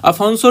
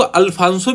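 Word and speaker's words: Afonso: फिर इसके बाद में दूसरे गवर्नर की बात करते हैं, अफोंसो डी अल्बुकर्क। इसको अल्फांसो भी बोलते हैं और अफोंसो भी बोलते हैं।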